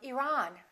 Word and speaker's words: Iran: at the next one did you say iran or iran it should be the second one he's from iran he's from iran let's look at the